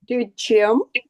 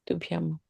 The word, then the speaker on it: Tubhyam: I told you that here the is wrongly written. That is why I explained to you from the translator.